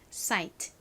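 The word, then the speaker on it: site: 따라해 보세요 사이트 좋습니다 끝에 트 소리는 작게 발음해 주세요 사이트 오케이 참고로 세트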